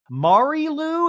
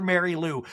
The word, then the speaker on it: Mari Lou: Well, no, I guess her name's Mari Lou is how you say it, but even the brother that's dating her mispronounces it and calls her Mary Lou.